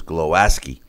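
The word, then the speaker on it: Głowacki: WBO cruiserweight champ Christophe Glowacki or the way they pronounce it is glow ascii improved to 30 and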